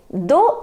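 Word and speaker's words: dos: is do do s we don't pronounce the last consonant so it because no dough which means your back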